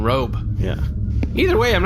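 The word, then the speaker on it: Röb: You know, with the ool out there, I think the pronunciation is actually rube, which is not very complimentary either. Yeah. Rob and rube both less desirable than robe.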